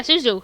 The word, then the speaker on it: Suzu: snapped come on suzu suzu I believe that's how you say it zuu suzu yeah suzu haha I was right go me the farmer